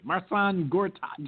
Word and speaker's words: Marcin Gortat: How you pronounce his name? Marcin Gortat.